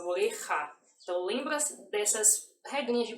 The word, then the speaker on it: oreja: Lembra que o J é como se fosse o nosso RR. Por exemplo, oreja, oreja, tá? Não é oreja, é oreja.